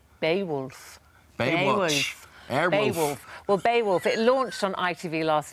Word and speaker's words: Beowulf: Bewolf. Bewolf. Bewolf. Beaywolf. Beaywolf. Bewolf. Beaywolf. Well, Baywolf, it launched on ITV last night.